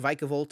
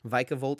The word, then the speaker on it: Vikavolt: the vikavolt deck and it is pronounced vikavolt I learned this weekend so I'm gonna try to work on saying it correctly vikavolt and drapion not drapion